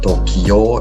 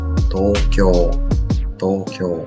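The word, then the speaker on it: 東京: Pronunciation bukan Tokyo atau Tokyo gitu enggak ya. Sebenarnya pronunciation agak panjang. Tokyo.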